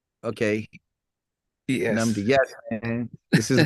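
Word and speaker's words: Nnamdi: So I know the double N, it's Namdi. Namdi.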